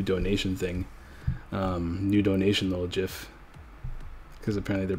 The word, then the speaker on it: GIF: have a new donation thing new donation little jiff cuz apparently they're pronounced just not gifts even though it gifts